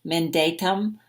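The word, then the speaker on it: mandatum: it forgive month and the way that I'm saying it pronunciation men datum is the word and it means commandment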